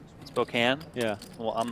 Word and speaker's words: Spokane: trial lawyer by trade I was told once that you're supposed to say Spokane Spokane yeah well I'm not